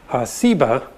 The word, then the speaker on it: Seba: Well, there's a few other places that mention Sheba, but there's also a related term, a term that most scholars think is related that has just a different S sound, Seba.